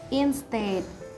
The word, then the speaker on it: instead: this world is instead instead the stress of this world is located on the second syllable and the meaning of